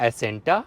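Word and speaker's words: Acenta: तो अगर वेरिएंट की बात करें तो ये गाड़ी विजिया, विजिया प्लस, एसेंटा और इसके बाद में एन कनेक्टा और टेक्ना प्लस, ये इसके वेरिएंट इस तरीके से प्रोनाउंस होंगे।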